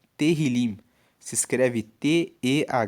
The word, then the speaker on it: Tehillim: Uma outra questão dos salmos é que o nome salmos no hebraico é Tehillim. Se escreve T-E-H-I-L-I-M e Tehillim significa louvores.